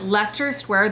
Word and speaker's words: Leicester Square: it at the bottom because it's not spelled like Leicester but Leicester Square the morning of or